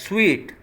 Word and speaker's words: suite: This is SUIT, suit, definitely libas or something, but this word is pronounced as sweet, SWEET, something meetha, you know.